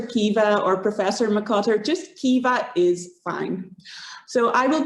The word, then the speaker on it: Caoimhe: So my name with the crazy spelling is Caoimhe. So you can spell it like this in Korean, Caoimhe.